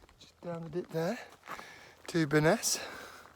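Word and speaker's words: Byrness: um bellingham just downed it there to baness i'm reliably informed that's how you pronounce best of those days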